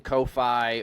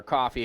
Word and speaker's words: Ko-fi: do, and you're using Ko-Fi or Coffee, however you want to pronounce it, or you're using